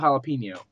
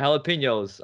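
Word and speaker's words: jalapeño: don't like to eat food that's pronounced with a h that's actually starting with a J galapo jalapeno jalapeno jalapeno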